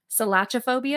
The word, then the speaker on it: selachophobia: Selachophobia. Is it ch or k? It's a selachophobia. So it is a ch. The ch is pronounced. It's not k.